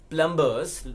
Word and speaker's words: plumber: now please understand your the B remains silent here as well so what we got PLU MB er as plumber's most of us do that they are not plumber's they are plumbers the beasts remain sided